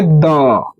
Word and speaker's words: the: Vowel sound के पहले बच्चों दी बोलते हैं। कंसोनेंट साउंड के पहले हम क्या पढ़ते हैं?